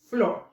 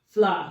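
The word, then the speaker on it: flour: you call pronounselves I don't even know how to pronounce it I call it floor pronounce it fla so f l o u r all right so the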